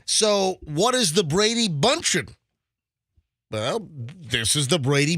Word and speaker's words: Bündchen: I went to the official how to pronounce Gisele's name. Yeah, bunchen.